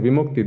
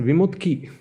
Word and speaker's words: Vimukti: They'd always shuffle the last two syllables. They always shuffled that. Yeah, so my lay name was Vimukti. And instead of saying Vimukti, they always said Vimutki.